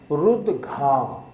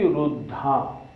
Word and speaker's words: रुद्घा: शब्द क्या है? रुद्घा। हम बोलते हैं वृष्टि रुद्धा। रुद्धा नहीं बोलना, इसको रुद्घा बोलना है।